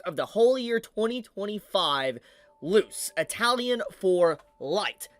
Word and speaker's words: Luce: Honestly, when I first read this, I thought you pronounced it like Lucy, but obviously I'm wrong.